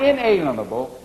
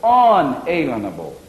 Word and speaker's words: unalienable: Now, not inalienable, unalienable. Now, what is the root of that word unalienable? It's one small word spelled where am I? Make sure I get it right. It's spelled L-I-E-N, lean, unalienable rights.